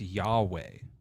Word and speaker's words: Yahweh: I got the God's name wrong. It's Yahweh. Oh, Yahweh.